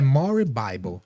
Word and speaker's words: More Bible: E é More Bible. Se escreve More Bible, mas se pronuncia Morebible.